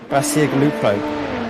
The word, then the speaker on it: Bacigalupo: Luca Bergli, really bad with names, so Bacigalupo. That might be correct, actually. Yeah, I think that's correct, actually. Yeah, I've been saying it wrong. Yeah, that's definitely it.